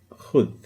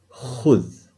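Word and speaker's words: خذ: So here, when you pronounce it, it's khudh, khudh, okay?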